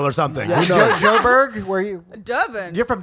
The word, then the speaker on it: Durban: something where are you durban you're from durban that's the brownish brown color purpose rhymes with turban you know that that's